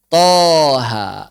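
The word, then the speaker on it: طه: Contoh Toha. Gimana cara baca Toha? Toha. Nggak ada hamzahnya.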